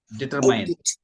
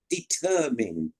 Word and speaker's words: determine: another yes another word that Indians struggle to pronounce is determine d t r m i n e determine determine yes deter yes next monk monk that's why